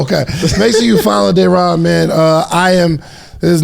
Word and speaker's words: Daeron: Daeron?